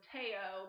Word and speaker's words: Teo: Mary Gray decides to give you a lesson in how to say his name and which is so Teo but I'm GNA call